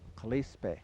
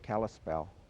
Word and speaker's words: Kalispel: The Pend Oreilles called themselves Kalispe, and that became mispronounced into Kalispel.